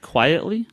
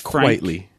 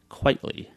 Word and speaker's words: Quitely: Frank white leak likely like quite frankly but quaintly it's it's quite Lee Quitely although I like Frank